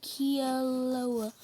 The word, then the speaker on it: Kilauea: You say them like this: Mauna Loa and Kilauea.